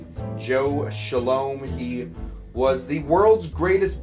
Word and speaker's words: Scialom: cocktails no it's uh weird uh how that's pronounced and spelled s-c-i-a-l-o-m shalom joe shalom he was the world's greatest bartender for many